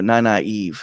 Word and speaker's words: Nynaeve: And also Nynaeve is the proper way to say that name.